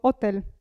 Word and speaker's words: hotel: E, attenzione, ve l'ho già detto prima, la H non si pronuncia mai in italiano, mai.